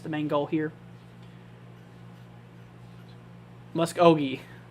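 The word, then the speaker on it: Muskogee: the main goal here mus oi yeah that's how you say it musi you don't really say musk oi or muskog it's mus oi right I think that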